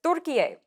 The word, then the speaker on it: Türkiye: He is formally requesting that his country be referred to as Türkiye, the way the country is spelled and pronounced in Turkish.